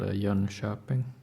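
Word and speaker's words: Jönköping: dots over it so in English it's spelled Yun coping but in Swedish it's called y shopping y shopping is um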